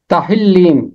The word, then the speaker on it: تہلیم: املا ہے ہاتھی سے۔ تہلیم یہ ہے اس کا تلفظ، اور ہاتھی سے ہونا